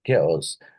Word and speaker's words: chaos: So uh, that is known as a ch sound, whereas the chaos, which is called as chaos, has the k sound, k sound, isn't it?